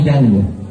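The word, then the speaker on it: Django: llamas y yango dice me llamo yango y lo deletrea de y la Clara pero la desde el principio es muda no se pronuncia y este señor dice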